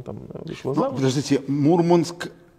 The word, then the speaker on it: Мурманск: И Мурманск. И Мурманск. Мурманск. И Мурманск. Они говорят, да. Мурманск. Мурманск, да. Мурманск. Да, так же, как компас и компас, да, свои ударения у моряков.